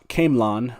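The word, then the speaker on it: Caemlyn: queen morgaes who rules the city state of kamlon which is spelled c-a-e-m-l-o-n with her husband king merrick of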